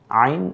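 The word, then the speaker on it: ع: নাম ত এরপরেরটা আইন আইন কণ্ঠলীতে চাপ দিয়ে আইন এবং হা এই দুইটা অক্ষর উচ্চারিত হয় এজন্য আমি উদ্ধার ছোট্ট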